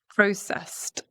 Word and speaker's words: processed: Processed, processed, because the s here, we're not engaging the vocal cords, right? It's a s sound. So we've got the T ending.